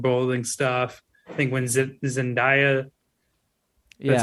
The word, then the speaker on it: Zendaya: I think when Zendaya, that's how you say her name, I think